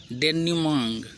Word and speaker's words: denouement: अगला शब्द है डेन्यूमाइन, डेन्यूमांग। इसको क्या पढ़ेंगे? ये आधा अ है। डेन्यूमांग, क्या पढ़ेंगे?